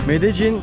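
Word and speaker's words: Medellín: Medellin diye yazılıyor. Medellin diye okunuyor.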